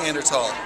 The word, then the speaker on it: Neanderthal: It's pronounced Neanderthal.